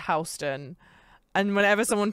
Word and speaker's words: Houston: And it's spelt like Houston, but it's pronounced Houston.